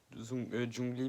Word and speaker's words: Zhongli: Vous allez rencontrer un autre archon qui s'appellera Zhongli, enfin bref. Prononciation chinoise, Zhongli, pardon.